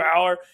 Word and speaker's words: Allar: Or, I was saying Allar and I was wrong. But it's Drew Aller.